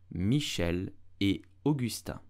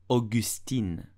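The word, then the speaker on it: Michel et Augusta: French you will say Michelle Augusta Michelle Augusta do not pronounce it Augustine but Augusta Michel e Augusta did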